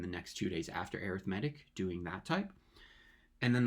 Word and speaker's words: arithmetic: It's called arithmetic. It's kind of like arithmetic, but we just pronounce it a little bit differently. Um, so arithmetic, and that's what the next two lessons will be on that type specifically.